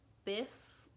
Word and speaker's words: bis: So it goes like this: bow, bis, like hiss, like a snake hisses, bit, like hit.